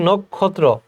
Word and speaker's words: নক্ষত্র: খুবই গুরুত্বপূর্ণ পরীক্ষায় আসবে একঝাক নক্ষত্র উচ্চারণটা হবে নক্ষত্র নেমে এসেছে যেন নীল